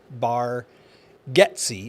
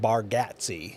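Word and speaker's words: Bargatze: a r g a t z e Nate bar getsy is how he pronounces it but it looks like baratti right what kind of comedian have we got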